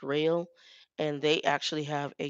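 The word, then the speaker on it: Roehl: our o eh L I believe I pronounce it roll but it's real and they actually have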